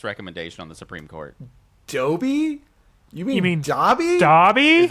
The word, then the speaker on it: Dobby: I'm I'm pretty sure for absolute years as a kid I read it as Doby in the book and then or I was oh no I'm pretty sure it was our fourth grade teacher whenever she read them out loud she read it as Dobby and so that's what